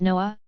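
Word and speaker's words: Nuh: warfare and the voice of N.A., pronounced Noah, Washington, who died in 2000 in a New York prison.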